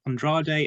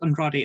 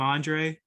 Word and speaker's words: Andrade: i think all three of them can't really pronounce spanish words correctly so give them they keep calling him andre like andre the giant like andrade so yeah